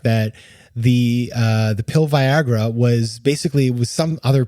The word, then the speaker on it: Viagra: the show called it Viagra and I was like what is Viagra and then I realized oh Viagra so he's German that's how they pronounce things but the serend depy